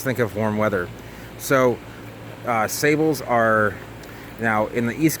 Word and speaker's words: sabal: So sabals are, now in the East Coast we call them sabals.